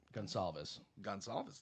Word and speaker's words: Gonçalves: Gonçalves. Thank you. Ooh, Kyle with the pronunciation.